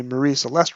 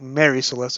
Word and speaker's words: Mary Celeste: Terence also works in a Marie Celeste reference. One day, I want to add a running tally of all Doctor Who novelizations that mention that ship. And I think Mary Celeste is how some people pronounce it, those who